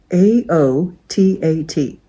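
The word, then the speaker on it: aoûtat: AOTAT. I would have thought it was AOTAT, but over here they pronounce it AOT.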